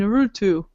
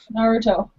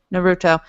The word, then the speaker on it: Naruto: you like Sasuke and narutu uh no Naruto Naruto I'm never going to pronounce that right I grew up in a place where I didn't hear it often enough so I've got it stuck in my head in the wrong way I'm sorry but anyway